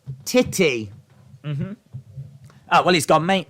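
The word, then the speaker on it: Tite: uh beelza for um Brazilian manager it's pronounced titty oh well he's got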